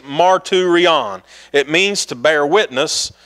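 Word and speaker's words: μαρτύριον: It's pronounced marturion.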